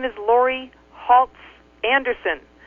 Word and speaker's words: Halse: my name is Lori haltz Anderson haltz rhymes with Waltz I woke to the